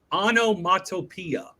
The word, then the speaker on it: onomatopoeia: a little trickier onomatopoeia onomatopia yeah you might know this word if you when I tell you but it is onomatopoeia all right okay oh